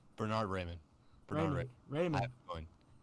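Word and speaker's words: Raimann: So I actually have them going with, I'm going to pronounce this so wrong, Bernard Ramin. Bernard Raymond.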